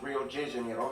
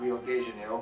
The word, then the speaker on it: Rio de Janeiro: that's right it's pronounced rio de janeiro not rio de janeiro get it right we're not in mexico this is portuguese not spanish this was done in